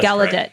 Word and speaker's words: Gallaudet: it's about um i don't know if i'm pronouncing the name of the university correctly gallaudet gallaudet gallaudet yeah gallaudet thank you um in washington dc that's where